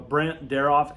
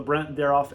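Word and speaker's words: Brandt-Daroff: Uh you can do uh Brent derof exercises.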